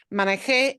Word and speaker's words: manejé: If I punch the last syllable, it becomes something totally different. Yeah. Manejé es pretérito para yo.